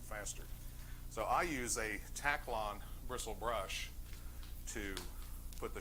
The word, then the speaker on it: Taklon: said i'm looking for a taclon bristle brush it's spelled t-a-k-l-o-n taklon and the girl said yeah we got